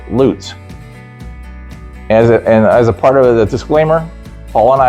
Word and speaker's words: Lutz: the world would pronounce L U T Z as Lutz. Around here L U T Z is pronounced Lootz.